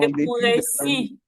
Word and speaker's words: Nekouressi: Pourquoi tu n'arrives pas à prononcer mon nom? Nekouressi. À 2 S-I.